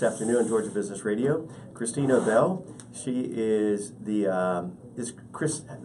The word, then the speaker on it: Krisztina: It's Krisztina, but you can pronounce Z if you want. My mother's Hungarian, so I got kind of stuck with that.